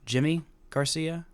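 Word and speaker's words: Yimi García: made a trade for Lever YY Garcia or Jimmy Garcia I believe is is how that's pronounced and I've been pronouncing it wrong for years and the Astros hadn't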